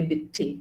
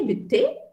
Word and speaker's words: bitte: want to say pardon then also i say bitty okay like i've not heard what you've said